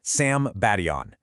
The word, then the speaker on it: Sambation: All right, so let me introduce you to the Sebastian River, and that's pronounced Sam Badon.